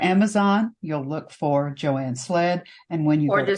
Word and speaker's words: Slead: because they might not the way I pronounce it and the way it's spelled may not be exactly the same.